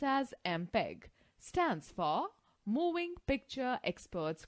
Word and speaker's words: MPEG: Students, note the fact, MPEG, pronounced as MPEG, stands for Moving Picture Experts Group.